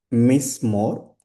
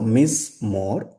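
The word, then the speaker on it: מִזְמוֹר: So here me it's very clear but under z we have shiva but that shva is silent because the vowel point that precedes shiva is short. So whenever the vowel point precedes the shua shua becomes silent then we have mo then re. So miss more then here shiva is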